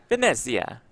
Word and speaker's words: Venezia: Italy from Casino de Venezia. Is that good pronunciation? Italian pronunciation? Probably I think not. so, yeah. You nailed it, Jeff. It rolls right off the tongue for you. Venezia. That's much better.